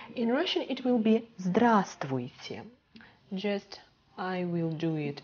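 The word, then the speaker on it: Здравствуйте: very formal greeting in russian it will be drastic just i will do it in print okay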